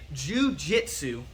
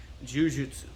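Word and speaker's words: 柔術: first one is the actual name itself okay jujitsu or j-i-u-j-i-t-s-u is a mispronunciation of jiu-jitsu okay jujutsu now you could say it's a different art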